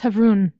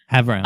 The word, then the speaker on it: Havroun: It's pronounced Havroon. I don't know what you said, but it wasn't Havroon. And I Havround.